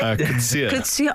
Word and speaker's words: Coetzee: Coetzee. Oh, lovely pronunciation.